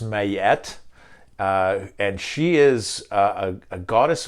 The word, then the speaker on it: Ma'at: And I'm going to touch on a very old concept from Egyptian mythology and cosmology that spelled Ma'at, but pronounced Mayet.